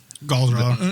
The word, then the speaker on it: Galdrar: Galdrar. No. that's You can say it however you want. So Gabagool. he says Ooh. Galdrar. Have you heard someone from the linguist of that Profession, say it. Galdrar.